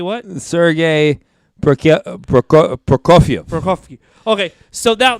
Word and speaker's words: Prokofiev: you're Russian Sergei what Sergei Brooke yeah Brook Prokofiev for coffee okay so now there's a sinister